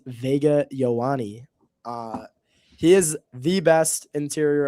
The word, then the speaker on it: Ioane: I think it's Vega Ioane.